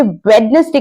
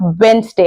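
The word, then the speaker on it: Wednesday: आने वाला वर्ड है अगर आप इसे वेडनेसडे कहते हैं तो ये गलत प्रोनंसिएशन है क्योंकि ट्यूसडे के बाद वेनसडे आता है याद रखिए भले ही स्पेलिंग में डी होती है पर जब हम इसको प्रोनाउंस करते हैं हम वेनसडे कहते हैं तो अगर आपको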